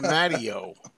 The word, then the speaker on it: Matteo: an interview with Steve mtio Steve mtio it rhymes with patio that's it exactly okay